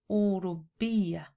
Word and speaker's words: أوروبية: The p sound is a reference to Europe. but you can pronounce it أوروبية.